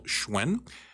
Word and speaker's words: Hsuen: to search for that and that's how you pronounce and spell schwen or you can go to YouTube live and Twitch TV and search schwen March 6 on any of those platforms and